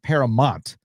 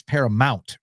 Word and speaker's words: Paramount: Why does OAS keep saying Paramont? Is this a GIF versus GIF thing? It's Paramount, right? Anyways, love the show. Uh you're right. It is. It's just how I pronounce it. I don't know why I say Paramont. It's actually Paramount.